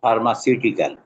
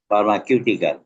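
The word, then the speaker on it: pharmaceutical: এখানে প্রাইমারি এটা হবে ফার্মাসিউটিকাল উচ্চারণটা ফার্মাসিউটিকাল তুমি উচ্চারণ কর ফার্মা কিউটিকাল তো ফার্মাকিউটিক্যাল হবে না ফার্মাসি বলে ঠিক আছে আচ্ছা আরেকটা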